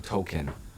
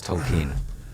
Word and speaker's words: Tolkien: I was saying Tolkien, but it's not pronounced like that, it's Tolkien.